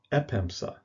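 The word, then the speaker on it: ἔπεμψα: and in its first heiress active form it's pronounced pemsa epemsa i sent next word down is pastuo meaning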